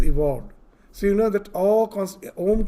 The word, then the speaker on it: Om: So you know that Om constitutes of 3 syllables. A, U, Ma.